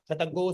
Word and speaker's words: शतगु: उसके पश्चात यहाँ कहीं देखो शतगु, यहाँ गु का उच्चारण करना है। आप अंतरिक्ष गु, यहाँ पर भी गु का उच्चारण करना है, ठीक है ना।